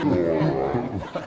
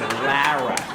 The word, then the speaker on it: Lara: You want to say Laura? Everybody wants to say Laura. And everybody does say secretly, but somewhere along the line, some prick is like, "No, it's Lara."